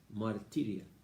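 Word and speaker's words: μαρτυρία: Testimonio en griego es marturia o martiria, porque la U se pronuncia como la I francesa, martiria.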